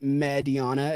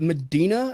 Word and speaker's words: Mediana: See, a lot of people say, What was that, Medina? It's like, no, it's never mind. It's Whatever. Mediana. It means medium in Spanish.